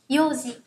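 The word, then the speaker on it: 四時: Nhưng trong trường hợp 4 giờ thì chúng ta sẽ đọc là yoji. Yo chứ không phải là yong.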